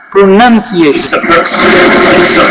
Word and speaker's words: pronunciation: this correctly wrong sorry it's not pronounced it's not pronunciation because pronoun is the you know the word from grammar pronunciation pronunciation yes pronunciation in